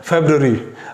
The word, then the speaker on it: February: Okay, इसके बाद next word है फेब्रुअरी।